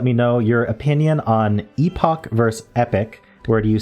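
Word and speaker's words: epoch: So when I heard someone pronounce it epic, I went, is that how you pronounce it?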